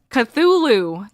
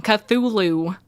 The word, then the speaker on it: Cthulhu: Someone spell it. Chhatu chhatulu. How do you say his name? Chachulu. Oh my god. Cthulhu. There. There we go. I forgot the H in the beginning. Cthulhu.